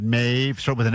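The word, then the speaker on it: Mauve: So, I have a couple, but I really love Mave. It's spelled M A U V E.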